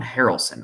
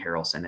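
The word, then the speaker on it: Harrelson: Jaywin Harelson. I believe that is pronounced like Woody Harelson as in White Man can't jump Woody Harelson.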